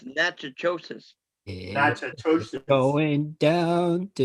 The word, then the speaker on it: Natchitoches: No, it's Natchitoches. Yeah, Massachusetts. going down to It's spelled Natchitoches.